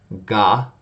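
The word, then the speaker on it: が: When you add ten just above to the right of these characters, you end up changing the sound from K, k, to G, g. So let's check it out. Ga, gi, gu, ge, go.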